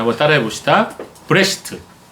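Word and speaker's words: בראשית: 브레시트. 예, 브레시트예요. 베레시트라고 얘기도 있지만 좀 정확한 발음은 브레시트입니다. 자, 브레시트라는 히브리어의 뜻은 태초에라는 뜻이에요.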